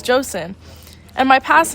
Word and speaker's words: Joseon: My current country's name is spelt like chosen, but you pronounce it as Joseon.